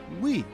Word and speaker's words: Wii: The Wii is pronounced as Wii, which emphasized the console is for everyone.